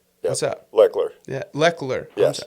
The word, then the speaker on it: Lechler: Brad Lecter. Yep. What's up? Lechler. Yeah, Lechler. Yes. How Yes. did I pronounce it?